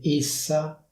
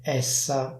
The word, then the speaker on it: -essa: A dire il vero, la pronuncia ufficiale di questo suffisso sarebbe essa con la e chiusa, ma dove vivo io si dice essa con la e aperta.